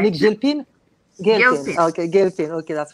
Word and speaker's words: Gilpin: How do you pronounce her last name? Gilpin. You're right. Monique Gilpin?